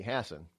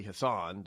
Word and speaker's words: Hassan: jeene Shaheen and now Maggie Hassen or Maggie Hassan depending on how you want to pronounce a tomato tomato they're enough for me